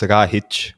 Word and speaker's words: Rahić: My last name is pronounced Rahic, which is the C with the thing on it is like a CH sound.